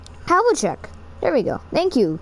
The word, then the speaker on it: Havlicek: Havlicek. There we go. Thank you, Kevin Harlan. Kevin Harlan, you suck. Nice shot by Kevin Havlicek. Right, Havlicek.